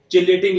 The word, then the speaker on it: chelating: Next आता है इसमें क्यूलेटिंग लिगेंड्स, और ये कल भी पढ़ा था थोड़ा सा कि क्यूलेटिंग लिगेंड्स क्या होते हैं, या इसको चिलेटिंग लिगेंड्स भी बोल देते हैं, तो वो प्रोनाउंसिएशन है।